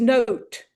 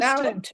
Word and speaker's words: nowt: It is note, like musical Interesting. note. It would be Interesting. nout if it were Yorkshire, but in Ilson it's note. Mm.